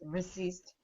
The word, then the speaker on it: resist: Yes, my first word is resist. Good. The stress syllable is second. Good. Resist. With a Z. Z like zebra.